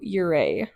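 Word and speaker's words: Ouray: I mean, it's spelled really weird and it's like pronounced really weird. So, O R A Y or something.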